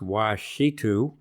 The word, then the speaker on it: Ouachita: Then we have another turtle, a single individual, pronounced Ouachita.